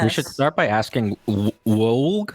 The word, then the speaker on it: Woulg: Woulg. Woulg. All right. So, well, since we're going on to how to pronounce names, I guess we can actually start